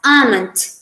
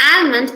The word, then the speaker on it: almond: h sounds silent and the first word is pronounced as almond it's not almond it's almond this is a picture of